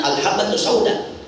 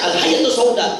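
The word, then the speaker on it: الحبة السوداء: gua nih biar Sembuh bacanya enggak ada titiknya harusnya alhabbatus sauda. Karena enggak ada titiknya dibaca alhayyatus sauda.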